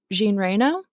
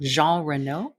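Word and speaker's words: Jean Reno: and helicopter pilot France Kger, played by uh Jean Reo. Sorry, I may have pronounced that. Jean Renault.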